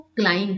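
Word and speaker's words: climb: पर मैं चढ़ती हूं इसको क्लाइम करते क्लाइम ऐसा बा नहीं बा यहां पर जो है साइलेंट हो जाता है ठीक है द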